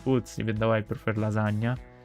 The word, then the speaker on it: lasagna: Personally, pizza is my favorite, one of my favorite foods, even though I prefer lasagna, which is pronounced lasagna, not lasagna.